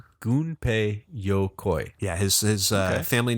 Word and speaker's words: Gunpei Yokoi: the pronunciation I'm sorry it's GU in PEI goon Pei goon pay sometimes it's spelled G um so goon pay a ninja in Japanese in an M or somewhat interchangeable but anyway it's good pay Yokoi goon pay yokoi yeah his family name